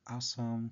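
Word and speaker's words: аз съм: In Bulgarian it sounds like asam, tc, and so on.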